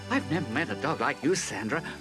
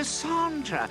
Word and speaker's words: Sondra: you oh geez Sandra no Sondra it's French pronunciation and she inexplicably has